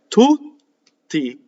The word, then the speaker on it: tutti: But how do we do double T? We do two T's. No, we go up to the T and then we don't say it.